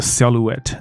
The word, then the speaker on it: silhouette: 下面这个字叫做 silhouette，它那个 h 是不发音